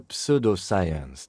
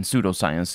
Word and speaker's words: pseudoscience: English, contrary to many other languages, in pseudo and psychic and stuff like that, the P is not pronounced. But either way, the point is, yeah, it's a pseudoscience, which means that it